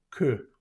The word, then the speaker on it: que: No vamos a decir que, sino que, se pronuncia bien la E, que.